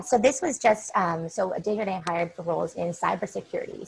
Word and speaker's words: Desjardins: So Desjardins, help me pronounce this, Desjardins, thank you, Siobhan, hired for cybersecurity.